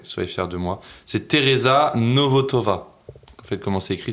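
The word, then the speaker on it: Tereza Nvotová: C'est Teresa Novotova. En fait, comment c'est écrit, c'est un peu compliqué à le prononcer.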